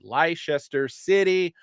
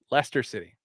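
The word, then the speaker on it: Leicester City: happen uh ler Lester City I can never pronounce it correctly Lester City versus Everton this weekend I'm predicting a draw predicting a draw Lester see I keep reading everything phonetically leester city thank you it's like wora like Worchester Massachusetts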